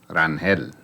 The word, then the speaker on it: Rangel: But actually, really and truly, it's supposed to be pronounced Rangel.